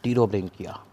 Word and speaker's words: Pterobranchia: Next class टीरोब्रेंकिया। P silent है, पटीरो नहीं पढ़ना, टीरोब्रेंकिया।